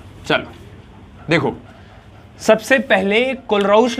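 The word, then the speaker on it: Kohlrausch: कुछ लोग तो उसको प्रोनाउंसिएट ही नहीं कर पाते हैं। कोलरऊस लॉ। चलो। देखो सबसे पहले कोलराउस लॉ जो है आपका वो आप स्ट्रांग इलेक्ट्रोलाइट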